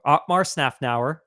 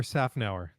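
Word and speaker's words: Szafnauer: we shared a comment from Otmar Snafnauer. Did I say Yep. that right? Did I? No, you did not. Oh, please, you go. Try it. How do you say it properly? Otmar Safnauer.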